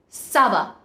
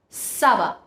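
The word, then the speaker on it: ça va: put sedil below the sea it will be pronounced as Sava Sava which means fine or okay so you see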